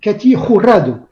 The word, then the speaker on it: Katy Jurado: nom tous ce soit on va mal prononcé son nom parce qu'on va le seul française normalement on devrait dire cathy roulades en fait en espagnol à la mexicaine et c'est difficile à